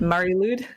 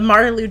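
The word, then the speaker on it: Mari Lwyd: I guess it would be pronounced Lude. Lude? Mari Lude?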